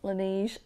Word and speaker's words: Laneige: I used to pronounce that brand Laneige until I was talking about it with one of my patients and she was like, no, no, darling, it's Laneige. It means the snow in French.